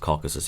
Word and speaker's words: Caucasus: And I think it's pronounced Caucasus, yeah.